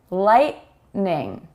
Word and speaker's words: lightning: This is what we call kind of a glottal stop, where we don't release the T sound fully. And therefore you think you kind of hear it, but we don't actually form the T sound when we say these words quickly in a natural way.